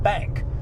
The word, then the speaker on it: Bank: When they were saying, when Connor was like, yes, I'm from Bank, or whatever, was that B-A-N-C? B-A-N-K. Oh, so it is pronounced like Bank.